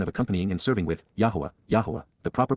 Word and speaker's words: Yahowah: to the mission of accompanying and serving with, Yahowah, the proper pronunciation of the name of Eloah, God as